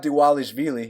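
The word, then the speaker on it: Dvalishvili: we got mer AB de walle sh wheelie the V's are actually uh pronounced as double use merabh d Wallisch melee he's eight and four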